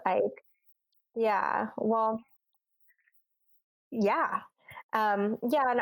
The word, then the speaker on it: Icke: how you say it I thought it was a key I was a key but I'm like man I think it's Ike yeah well yeah yeah